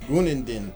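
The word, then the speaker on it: Günaydın: It means good morning in Greek. Yes, it is actually pronounced Gunendin.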